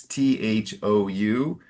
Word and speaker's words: thou: And then there's a classic word in English we don't use much now and it's t h o u and it's thou. Okay. Okay. You pronounce it more though.